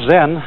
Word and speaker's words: Zen: Zen, of course, is a Japanese word, and it's spelled Z-E-N. And that is the Japanese way of pronouncing the Chinese word Chan.